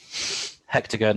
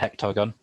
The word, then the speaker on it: hexagon: You have to be careful pronouncing that, don't you? Hexagon and hectagon.